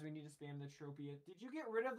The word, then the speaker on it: Tropius: I guess I should start pronouncing it like Tropius. That's technically, because it's supposed to be like tropical, you know?